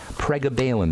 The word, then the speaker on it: pregabalin: you say prab Balin if you look at the word p r e g a ba you'll see Gaba in there pregabalin they call it but or pregabalin but